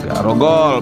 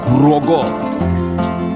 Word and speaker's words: Grogol: Dengan alat garogol, binatang buas biasanya ditangkap sehingga lama-lama alat ini menjadi sebuah sebutan bagi tempat tersebut, tetapi tidak diucapkan garogol melainkan grogol.